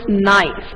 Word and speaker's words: gneiss: Yes, gneiss, right? It is pronounced as gneiss.